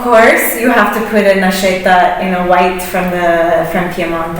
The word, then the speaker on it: Nascetta: Is that the correct pronunciation? Right. Okay. Can you say it? Anas-cetta. Anas-cetta.